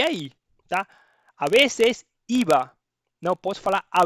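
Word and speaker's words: a veces: A vezes, ó, pelo amor de Deus, não coloque o esse aqui. Não é às vezes, não, é a vezes, a vezes, tá?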